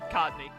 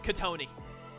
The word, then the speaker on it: Cottonee: Ah, and I can just reach the Cottonee. Or as I used to pronounce it in my foolish youth, Katoni.